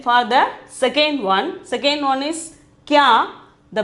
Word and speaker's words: क्या: Then for the second one is kya. The pronunciation is kya.